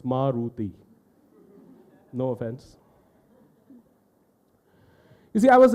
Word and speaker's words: Maruti: old car talk and to pronounce the name of the car you need notes investigation three syllables Maruti no offense if I